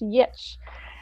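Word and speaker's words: Giertz: Her last name is spelled Geertz, but she's Swedish and it's pronounced Yitch.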